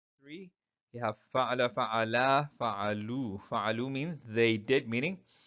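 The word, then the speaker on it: فعلوا: The alif after the waw is silent.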